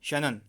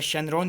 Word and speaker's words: Shannon: Option B में दिया गया है क्लाउड ई शैनन। यहाँ पे थोड़ी स्पेलिंग गलत लिखी है इन्होंने, ये आपका शैनरॉन नहीं होगा, ये आपका शैनन होगा, SHANNON होगा।